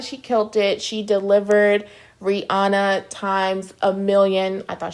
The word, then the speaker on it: Rihanna: pretending like I'm Rihanna No I want to pronounce her name correctly it's Rihanna yes so I want to hear you guys